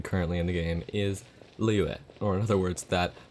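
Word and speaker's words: Liyue: in the game is liue or in other words that one region nobody knows how to pronounce just you know it's lee hue treated like three letters their element is geo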